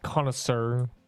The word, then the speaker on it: connoisseur: I mean, it's pronounced connoisseur.